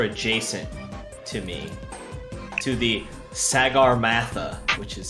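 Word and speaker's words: Sagarmatha: this if you're adjacent to me to the Sagar Matha which is how it is properly pronounced you gain hardcover the second part super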